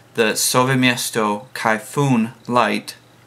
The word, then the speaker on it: Kayfun: what the the Sesto Kay fun or kyoon I just found out the other day I've been saying it wrong this entire time so I'm trying to break the Habit the Sesto khoon light $1 $120 before